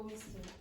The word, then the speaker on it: whistle: So, very often you will see words in English that end in t. Don't pronounce the t and then change that. Do you know another word? Yeah. Castle. Don't pronounce the t and then change the order of the e.